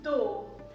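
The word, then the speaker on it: दो: toe is very similar the pronunciation of tu-tu-tu-tu-tu means dough let's just try one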